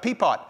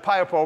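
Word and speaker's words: Piapot: you can stop at Peapot, Peapot, Saskatchewan. Keith told me it's not pronounced like that. He says it's Piopo, but it looks like Peapot to me, which is like an hour past urine, Saskatchewan.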